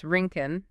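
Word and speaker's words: Rincon: Rinken. And you pronounce that Rinken, like the skating.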